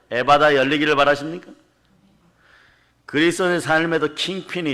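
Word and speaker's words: ἐφφαθά: 네, 원래 발음은 에파타 이러죠. 에바다 열리기를 바라십니까?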